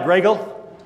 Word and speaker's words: Gray Eagle: Spelled like Greggle, Gray Eagle, Greggle.